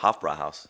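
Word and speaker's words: Hofbräuhaus: Hofbrauhaus.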